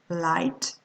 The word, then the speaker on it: light: Next, the letters G, H. When they are in the middle of the word, you do not pronounce them. Light.